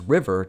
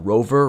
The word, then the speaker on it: Rvr: River, Travis Lett's Izakaya, which he insists we pronounce River despite my natural proclivity to call it Rover, Raver, and anything but River.